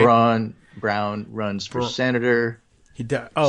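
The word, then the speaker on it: Braun: he pronounce his name Brown who Brown BR yeah I think he does say brown but even though it's spelled like Brawn b r n won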